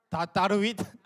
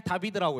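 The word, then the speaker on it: דוד: 이게 시편 37편 1절인데이 네모 다윗 히브리어 발음으로 어떻게 읽어? 다르윗 아니에요. 그냥 다비드라고 해요.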